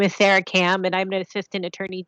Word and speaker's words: Sarah Kam: We do have a hand up, Sarah Cam. I'm sorry if I pronounced your name wrong. Hi, that's correct. My name is Sarah Cam, and I'm an Assistant Attorney General with the